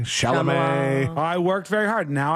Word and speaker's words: Chalamet: You've come such a long way from Chamalet, Chalamet.